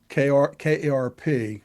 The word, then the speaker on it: Karp: Um, what's his face's Alex Karp, Karp, like KRAP in Cincinnati. So Karp, like carp spelled like crap with a anyway.